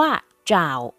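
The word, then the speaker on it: 找: แปล ว่า โปรด กรุณา คำ ว่า จ่าว จ่าว ใน ประโยค นี้ ออก เสียง ว่า จ๋าว นะ คะ แปล ว่า หา ค้น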